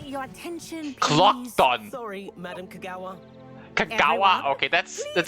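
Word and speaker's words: Kogawa: Madame Kong, how the hell do you pronounce that? Oh, Mr. Clock, your attention. Clock. Sorry, Madame Kagawa.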